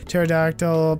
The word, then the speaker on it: pterodactyl: silent te is silent pterodactyl P is silent q ue excuse me